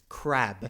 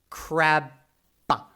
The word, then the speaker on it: crab: It's crab."